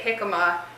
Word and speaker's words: jicama: how to say this I always have said it jicama that is apparently correct but jicama jakkamma oh